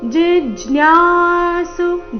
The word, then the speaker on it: ಜಿಜ್ಞಾಸು: ಹೇಳಬೇಕು ಜನಸುಕೃತಿನೋರ್ಜುನ ortho ortho ಜಿಜ್ಞಾಸು ಜಿ ಮೇಲೆ ಆಘಾತ ಜಿಜ್ಞಾಸುರಥಾರ್ಥಿ ಸುರರ್ಥಾರ್ಥಿ ಥಿ ಇಲ್ಲಿ